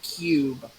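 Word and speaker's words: Q.U.B.E.: It's called Cube. Oh yeah, QUBE, I believe it's spelled.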